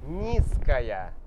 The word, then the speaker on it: низкая: Почему мы меняем З на С? Почему? Потому что это следующая согласная, next consonant, она мягкая. К. И если следующая согласная мягкая, мы должны сделать предыдущую тоже мягкой. Например, низкая. Температура.